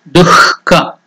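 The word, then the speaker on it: duḥkha: That is, dhu has to be pronounced with that visarga. Dukkha.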